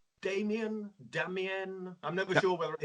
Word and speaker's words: Damien: It's supposed to be Damien because it's Okay. French. Yeah, so Damien, we have like in French, you have the accent, the inflection at the last syllable. So Damien.